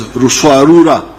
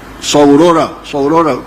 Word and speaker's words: Ruswarura: came to understand as Ruswarura. When you read, I think it is Speak, Understand, they write Saurora, but they were mispronouncing the name.